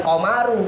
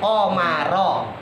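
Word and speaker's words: القمرَ: pakai Imam asim ya kita membacanya bukan qaru tapi qomaro di fathah sama seperti Zaidan kenapa Karena qar di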